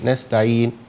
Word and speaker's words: نستعين: نستعين، أو إيه نستعين، بعد ما سكن النون أنطق أضم الشفتين نستعين، تمام.